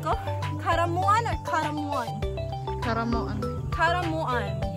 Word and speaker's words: Caramoan: Tama ba yung pronunciation ko? Karamuan or karamuan?